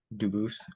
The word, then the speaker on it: Dubis: I am Anthony Edward Duboose. Um, Dubis is the English pronunciation. Duboose is the original French.